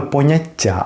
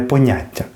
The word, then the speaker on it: поняття: чогось чимось від нього можна утворити іменник поняття ізнаголосом на останній склад саме поняття а не поняття і цей іменник поняття